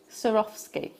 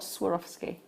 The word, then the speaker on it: Swarovski: do you say yeah sir off ski not Swarovski no one knows okay